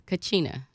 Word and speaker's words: Kachina: She is the founder of how do you pronounce that, Nicole? It's Kachina. Kachina Yoga.